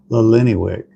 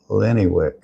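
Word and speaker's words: Illiniwek: Lennywick. So it's Illini, Wick.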